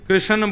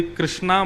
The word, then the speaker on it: कृष्ण: की जय बंधुओं कई कई लोग इस नाम को अशुद्ध बोलते हैं। कई लोग कृष्ण बोलते हैं। कई लोग कृष्ण बोलते हैं। कोई कृष्णा बोलता है। भगवान का नाम शुद्ध उच्चारण करो। नाम क्या है? कृष्ण भगवान।